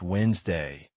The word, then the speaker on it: Wednesday: Many words sound very different from how they are written. For example, Wednesday is pronounced Wednesday and comfortable sounds like comfortably.